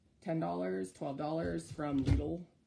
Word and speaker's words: Lidl: This kit that came with one was actually like $10, $12 from Lidl. Lidl. I've told that's how it's pronounced. I don't actually know. I've always called it Lidl, but apparently it's Lidl.